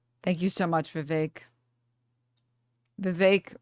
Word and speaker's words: Vivek: Vake rhymes with cake.